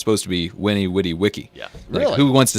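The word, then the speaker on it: veni, vidi, vici: yeah you hear the benny vidi vichy thing for kane saw conquer they also said these were w's so it's supposed to be winnie witty wiki who wants to say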